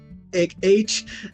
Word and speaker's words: Aerich: I wanted to create a character who was a male version of Aerith and named Eric, spelled like Aerith's name, but like, Aerich, like Eric.